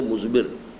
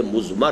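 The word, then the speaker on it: مضمر: ہے وہ مزمر ہے۔ عام طور پر جو ہے اس کو تلفظ ہم کر دیتے مزمر، اردو دان، لیکن یہ کہ اب آپ تو عربی دان ہو گئے نا، تو اس لیے آپ کو صحیح تلفظ کرنا چاہیے مزمر ہے۔ دوسرے حریت عمل ہے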